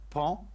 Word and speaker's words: paon: Yeah, for Frank, it's pronounced pon, but the O is silent.